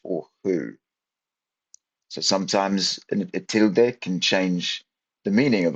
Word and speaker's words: tilde: As you can see here, tild. That's how you pronounce it. And tildes. I slipped into the English pronunciation there.